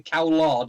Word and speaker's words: Cowlard: And it's only tonight that I realised that it's actually Cowlard and not Coward.